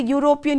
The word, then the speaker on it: European: european when you say european you say you right and again it begins with the consonant sound y and so we have